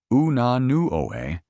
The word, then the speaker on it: Unanue: Unanue oo-nah-NOO-eh es, según él, demasiado difícil de pronunciar, pedir y recordar para los clientes estadounidenses.